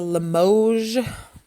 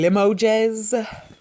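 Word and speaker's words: Limoges: little piano trinket box it's a limoge for us americans or people who don't pronounce it correctly it's a limo jazz it's just a little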